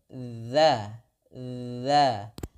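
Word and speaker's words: ذات: Ya, sekali lagi, 'dza' dalam pengucapan 'dzal', ujung lidah kita menyentuh gigi depan atas sehingga kita mengucapkannya dza, dza.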